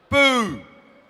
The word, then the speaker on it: Buu: it's spelled b ux and how do you pronounce it boo I'm dyslexic we just thought it was a great name Buu Avenue did not exist uh two and a